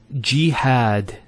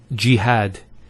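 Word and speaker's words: جهاد: followed by the Elif next word is jihad so we have here G that's the first syllable and then had jihad so you notice here we have a Fatah on the ha followed by the Aleph and that gives the elongation of the a sound next word Ibrahim so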